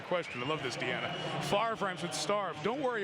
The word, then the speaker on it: Favre: to say every time I know it's pronounced far but every time I see the Jersey I think there's a misspelling of man Tipton did